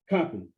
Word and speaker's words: Coppin: Is that how you pronounce his name, sir? Coppin State. Coppin.